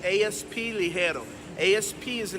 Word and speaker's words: Ligero: The way you pronounce it is Ligero.